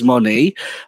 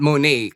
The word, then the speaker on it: Moné: It's not Monet kasi it doesn't rhyme with Janelle Monet. Apparently, it's Moné. So, Moné. Okay. Yes, because of that right. French E thingy. I don't know what it's called, but it's Moné, not Monet.